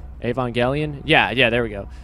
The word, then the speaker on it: Evangelion: we're polishing off the month with uh neogenesis avon galleon i hope i think i pronounce it right evangelion yeah yeah there we go with one point